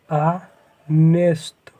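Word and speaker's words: honest: और आनेस्ट, इसका भी हम लोग उच्चारण करें तो किससे निकल रहा है, बस ना, आनेस्ट, आनेस्ट।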